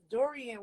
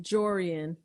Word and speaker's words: Jorian: So when they was like hunting for the walls and stuff, now Dorian was there too. Jorian. How you say it? Jorian. Okay, I said Dorian.